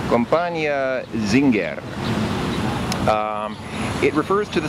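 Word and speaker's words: Зингер: something like Z zing in Russian they say Zinger which I'm pretty sure is closer to the German than the English pronunciation so anyway so this this is uh uh Dom comp Zinger um because it was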